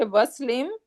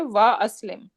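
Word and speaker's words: وأسلم: So if I bring wow, I'm not gonna say waslim, rather I'm gonna say wa aslim. So it is going to be pronounced even though something came before it.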